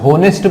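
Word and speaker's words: honest: पढ़ना है है ना क्यों क्योंकि ह जो है वो साइलेंट है और ओ से शुरुआत होगी पढ़ते टाइम ठीक है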